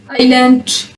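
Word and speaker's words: island: Some common words with silent S, आइलैंड, जजीरे को कहते हैं, आइल और आइल।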